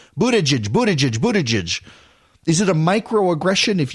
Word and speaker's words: Buttigieg: somebody about Pete Buttigieg, it's actually Pete Buttigieg, not Pete Boot Edge or Pete Butter Judge. And originally it was Pete Butter Judge, and then it became Pete Boot Edge. Well, that's how you pronounce his name, Boot Edge.